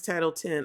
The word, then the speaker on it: Title X: what this is um title X pronounce title 10 oh shoot title 10 y'all child it's a x so I thought it was like Malcolm X title X but it's title 10.